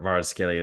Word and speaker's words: Kvaratskhelia: to potentially getting what was a Maradona or Kvaratskhelia is the proper way to say his name,